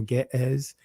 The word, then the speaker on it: Ge'ez: And you guys know in Amharic, in the ancient of that language, which is called Ga'az, some pronounce it as Giz or Ge'ez, it means kings, right?